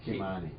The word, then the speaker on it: Ky-Mani: No, you're with Ky-Mani.